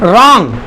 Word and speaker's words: wrong: And wrong, W is silent. We get the R sound, is independent.